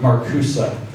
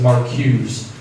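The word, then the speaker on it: Marcuse: stuff and read it Herbert marcusa so you'd probably pronounce it on first sight as Mark Hughes m a r c e hurt my yeah okay thank yeah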